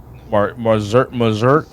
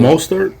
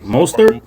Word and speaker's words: Mostert: no, Mazert, or how do you say it? Mostert. Mostert.